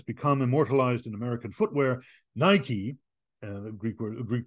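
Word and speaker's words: Νίκη: word that has become immortalized in American Footwear Nike and the Greek word Greek pronunciation would be Nikkei which means Victory and then we are told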